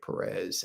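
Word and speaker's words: Pérez: George Perez, accent on the E.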